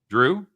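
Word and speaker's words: Jrue: pronounce holiday's first name drew drew yeah how do you spell it i know it's spelled j-r-u-e but i pronounce it like the drew carey show yeah we need to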